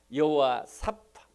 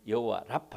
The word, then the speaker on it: 여호와 라파: 여러분, 코로나 사태가 아무리 위중해도 고치실 수 있는 하나님, 치료하는 하나님, 여호와 사파, 여호와 라파, 발음은 두 가지로 합니다. 다 틀린 것은 아닙니다. 원래 발음 여호와 라파 해야 되겠죠.